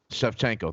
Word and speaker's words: Shevchenko: Shevchenko, thank you.